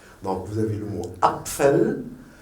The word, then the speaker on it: Apfel: Donc, vous avez un PF, vous dites Apfel.